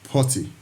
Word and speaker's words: PuTTY: linux operating system is known as potty potty client it's spelled p-u-t-t-y so let's head over